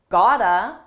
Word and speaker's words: gotta: I said you gotta kick it up a notch. First. Notice how I used Ghana? This is a reduction. It's a combination of the words. Got to and it's pronounced as one. Gotta you gotta you can